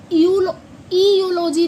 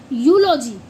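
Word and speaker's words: eulogy: इसे हम यू इयलॉजी नहीं पढ़ते। इसको हम पढ़ते हैं यूलॉजी। क्या बोलेंगे? यूजी। यूलॉजी का मतलब क्या होता है? किसी चीज की स्तुति करना। ठीक है? तो इयलॉजी नहीं पढ़ते। इसको यूलॉजी पढ़ते हैं।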